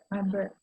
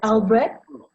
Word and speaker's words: Albrecht: It's a, Albrecht? you know, kind of a guttural. Okay, yeah, right. You got to get that guttural thing.